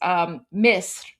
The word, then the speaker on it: Misr: of course, like for us Persians, we just pronounce it the same way. So, for example, Egypt is Misr, Misr.